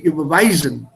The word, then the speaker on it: überweisen: so from a pronunciation point of view, it should be überweisen.